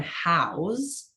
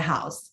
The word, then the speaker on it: Houzz: change it up so this review is from house have you ever heard of how Trey I I have spell it it's spelled eight h o u z